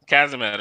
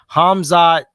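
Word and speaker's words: Khamzat: Kazamet or something like that. Yeah, it's Hazma. I just had it. Kamzamet. Yeah. He's a beast, though. No, you pronounce it Hamzat.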